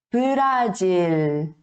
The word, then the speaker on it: 브라질: Aqui percebe que aqui tem consoante e consoante, tá? Então isso não pode acontecer.